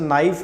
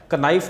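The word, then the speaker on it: knife: जैसे नाइफ है, नाइफ में के साइलेंट होता है, कनाइफ नहीं पढ़ते, ठीक है, नाइफ पढ़ते हैं।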